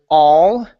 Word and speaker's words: all: And um let's go to the word all. So instead of saying with an sound, it's a. Open up the mouth wide. All.